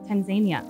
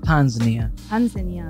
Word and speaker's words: Tanzania: a year so actually she would pronounce country name tanzania for me i always want tanzania so there's the emphasis yeah i always wondered